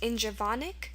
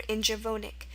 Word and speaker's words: Ingaevonic: So it's pronounced Ingevonic or Ingevonic. The tricky part of this word is the first half. The second half would be easy. Once you ask for the alternate pronunciation, Vonic, Vonic, you're going to know it's V-O-N. And the fact that it's an adjective means it ends in an I-C, clearly. So the first part is